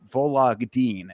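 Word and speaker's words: Vologdin: Adrien Luna Martinetti versus Mark Volagin is how you pronounce it.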